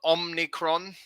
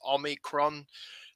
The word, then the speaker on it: omicron: um now um yes now notice it's not omnicron don't make that mistake um people are calling this the omnicron it's not it's omicron um nor is it omricon as i used to mispronounce it um so just try and get that right omicron